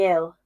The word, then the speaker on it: Gil: It's pronounced Hill. See, I'm horrendous at pronunciation. Thank you, Crispy. Hill. There we go. Hill. I'm such like a common English person and just pronounce it Gil.